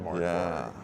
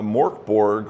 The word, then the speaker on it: MÖRK BORG: Yeah, so Mork Borg, or as the Swedish pronounce it, MÖRK BORG, I believe, literally translate to Dark Fort, I believe.